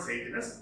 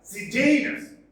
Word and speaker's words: Sejanus: Yes, not Sejanus, it is pronounced as Sejanus.